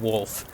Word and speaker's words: wolf: is Lancaster County um tend to drop the L and call them wolves and uh or wolfs